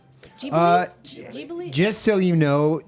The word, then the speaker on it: Ghibli: It's a hard G, by the way. FYI, everybody. Ghibli?